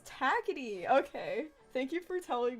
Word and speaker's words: Takiti: Correct pronunciation, greater than, Takiti.